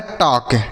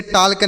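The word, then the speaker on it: talk: इसे पढ़ा जाता है टॉक। इसे टाल के नहीं पढ़ेंगे बच्चों। यहां पर जो एल लिखा गया है, यह साइलेंट है।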